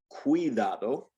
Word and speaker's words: cuidado: Now, if it's followed, if it comes after the letter C and is followed by either an I or an A, then it turns into a W, like our W sound.